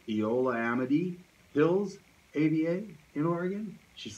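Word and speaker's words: Eola-Amity: know is it pronounced Eola Amity Hills Ada in Oregon she's like exactly Eola Amity it's almost ran into one but it's two it's Eola and Amity but it kind of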